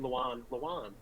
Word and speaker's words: Lewan: Taylor Lewin or Lavin, I don't know how you pronounce it. Lewan.